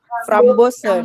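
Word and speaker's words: frambozen: F-nya jadi S-nya jadi Nah, kalau O-nya panjang si S-nya berubah jadi. Nah, coba kalian ngomong from Bosen. From Ben. From Bosen S-nya berubah enggak jadi apa? S-nya berubah enggak Z gitu.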